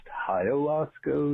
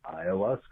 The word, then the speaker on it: ayahuasca: Just to let you know, it's not pronounced ayahuasca with an H. It's actually ayahuasca without the H sound.